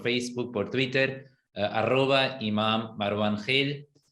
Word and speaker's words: Gil: Exactamente, en realidad es Gil, pero obviamente en alemán se lo escribe así, aquí lo pronunciamos Gil, entonces.